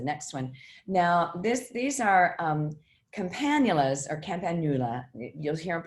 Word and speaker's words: Campanula: I learned it as Campanula, and actually Campanula is the right way to say it because it's Campanula. It's always the accent on the second syllable.